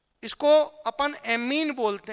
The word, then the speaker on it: ammine: ये अमीन है, अम्मा वाला, तो एमीन, जबकि वो अमीन है। तो अमोनिया को अपन क्या बोलते हैं? AMMINE, एमीन। प्रोनाउंसिएशन करेंगे तो कैसे बोलेंगे? एमीन। जबकि सिंपल ऑर्गेनिक केमिस्ट्री में अमीन होती है, अमीन, अमीन। ये एमीन है।